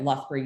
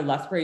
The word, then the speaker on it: Lethbridge: do a postdoc at lochberg university in the uk i'm pronouncing that wrong um you pronounce it 10 different ways you'd still be wrong all times but for those of